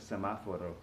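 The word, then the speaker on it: semáforo: is El semaforo as semaforo this word is kind of a little bit clumsy because it's got that accent on the second syllable of semaforo the rhythms kind of funky so most people just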